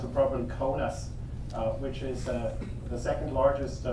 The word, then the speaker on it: Kaunas: also at the University of Kaunas, or to pronounce it properly, Kaunas, which is the second largest city in Lithuania.